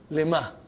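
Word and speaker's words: لِمَ: Lima. So ha will come as a silent, lima. You are not pronouncing it because there is a sukoon on it.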